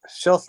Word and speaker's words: shelf: Pero talk es con K, pero si existe half no se pronuncia la L. Half. Sí, pero aquí sí, shelf.